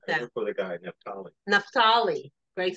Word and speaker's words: Naphtali: Nephtali. Greg says it's pronounced Nephtali.